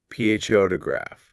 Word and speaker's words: photograph: Now, listen where the stress is. pho-to-graph pho-to-graph. It's right on the first part. pho is loud and long.